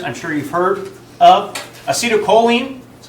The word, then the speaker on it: acetylcholine: Acetylcholine, that's how you pronounce that, glutamate, dopamine, norepinephrine, and serotonin.